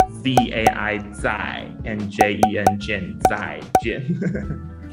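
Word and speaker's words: 再见: It's pronounced as Z-A-I, Zai. Zai. And J-E-N, Jian. No, say that again. Say it all in one. Z-A-I, Zai. And J-E-N, Jian. Zai, Jian. Zai, Jian.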